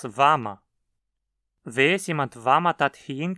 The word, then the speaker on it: wann: Weiß jemand, wann man dorthin gehen kann? Alguém sabe quando se pode ir lá? Aqui o advérbio interrogativo wann, onde, se transformou em vam. Não dizemos wann ma, mas vama.